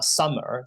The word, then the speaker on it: Zumer: And also, I think that we like to use Sumer. It's like Sumer basically it pronounced the same as Sumer, like seed, OOMER, which basically mean the new generation.